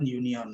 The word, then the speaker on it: union: Nah, yang terakhir, the workers at the plant do not belong to a union. Nah, di sini juga incorrect. Kenapa? Union itu diucapkan dengan pelafalan konsonan, sehingga yang benar adalah a, bukan an.